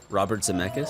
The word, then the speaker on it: Robert Zemeckis: there he worked with Robert Zemeckis it's how you say it Robert Zemeckis yeah yeah he did